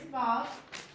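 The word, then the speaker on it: ו: All right, so here's Vav. Vav is a hook, a nail. It's a joiner. So Vav, when it's a consonant, it makes the V sound.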